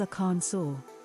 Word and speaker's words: Arkansas: penalty for mispronouncing Arkansas the official pronunciation is a Khan saw mmm ants laughter bringing